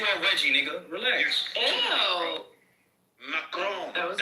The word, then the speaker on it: Macron: Macron, that's how you pronounce it, not Stop playing with this gay shit, please.